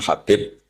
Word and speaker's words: Habib: Ada yang nulis Abi Abdurrahman Habib Asulami. Itu di harakatnya kitab itu ada yang nulis khubab yang benar. Oh nggih. Yang benar itu bacanya habib.